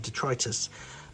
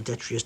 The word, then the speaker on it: Detritus: Hound, I think, originally came first and then was repainted as Detritus, or Detrius, depending on how you choose to pronounce it.